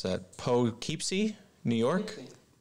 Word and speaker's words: Poughkeepsie: David Potter in, I can't pronounce that, Poughkeepsie, New York? Poughkeepsie.